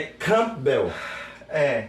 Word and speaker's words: Campbell: O P, por ele ser mudo, então você não pronuncia. Então faz Campbell, entendeu? Como se você desse uma respirada. Mas ninguém fala, é Campbell, é Campo Belo, é Campus Belo, entendeu?